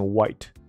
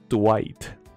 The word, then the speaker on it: Dwight: 他的名字应该是念 White， D 不发音，放屁，